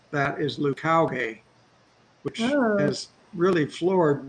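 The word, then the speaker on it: Leucauge: So it's sort of completely different from the Lucage, which is sort of how you would pronounce it, maybe if it was a French word, but he says Lucauge.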